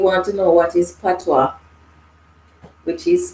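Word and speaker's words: Patois: to know what is patwa which is spelled i don't know it is a jamaican language but yet it has a french pronunciation french spelling french pronunciation because it is a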